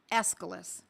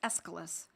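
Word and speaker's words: Aesculus: Escalas. It's spelled A E S C U L U S. Escilis.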